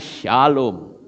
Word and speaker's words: Shalom: Shalom itu tulisannya SLWM. Ya. SLWM, itu bacanya Shalom.